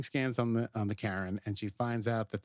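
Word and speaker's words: Charon: I look this up they're pronouncing the ship Karen not Sharon and not Sharon which I would say but it's fine slightly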